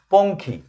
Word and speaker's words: পঙ্খী: ঙ দিয়ে খ দিয়ে ঙয় ক্ষয় উচ্চারণটা হচ্ছে অঙ্কর মতো। ঙ হচ্ছে অং খ। আজকে প্রথম যুক্তবর্ণ যেটা দেখাবো সেটা হচ্ছে পঙ্খী।